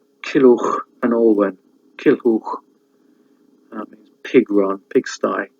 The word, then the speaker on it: Olwen: But you have other names which are probably hard to pronounce. Kilhuch, Kilhuch, and Olwen.